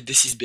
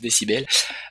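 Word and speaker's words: décibel: B ou dcibel he moi j'ai toujours appelé DCIS B alors que ça se prononce dcibel un micro professionnel car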